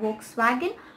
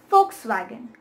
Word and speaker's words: Volkswagen: The thing is, it is German and in German the W sound is a F, like the W is pronounced as F, so therefore it becomes Volkswagen and not Volkswagen.